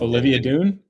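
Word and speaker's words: Olivia Dunne: It's Olivia Dune.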